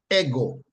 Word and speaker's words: ego: The pronunciation, however, is ego, ego, ego. Yes, like how we talk about egg, brown egg, white egg, chicken egg, pigeon egg, ego, right?